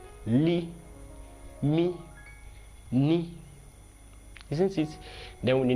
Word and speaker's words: M: The spelling like English M, but in pronunciation is Mi.